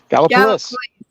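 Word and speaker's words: Gallipolis: Bliss got opolis police Gala police Gallup police gallopolis oh Kellogg please like please do something for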